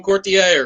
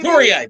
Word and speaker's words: Couturier: forwards like Coots and Sean Courtier or Coutier, however you pronounce it. But Couturier, maybe. Couturier, thank you.